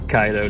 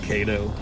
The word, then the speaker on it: Kaido: what he's doing now it's kaido not kato i bet i really